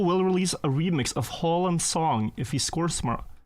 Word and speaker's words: Haaland: You pronounce Haaland like Haaland? Yeah, it's A is an O in Norwegian. It's a different sound.